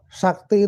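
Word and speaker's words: śakti: sih maksudnya kata sakti Sakti itu kan dari bahasa Sansekerta atau bahasa sunskrip tulisannya Cakti dibaca Sakti di situ bermakna adalah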